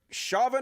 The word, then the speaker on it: Chauvin: And did you see today the trial for Derek Chauvin, is how you pronounce his name, started today?